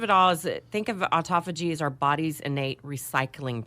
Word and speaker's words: autophagy: I'm going to spell it Autophagy. Autophagy. Autophagy. Autophagy. Like auto. Auto.